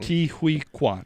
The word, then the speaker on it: Ke Huy Quan: I literally looked it up so I didn't pronounce it wrong. Ke Huy Quan.